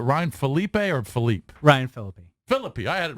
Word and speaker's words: Phillippe: Yeah, it's got to be an ego booster for dreamy Ryan Phillippe, or however you pronounce it. He just told you how it's pronounced. Yeah, Ryan Phillippe. Phillippe.